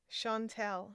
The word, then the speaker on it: Chantelle: Chantelle is how we pronounce my name.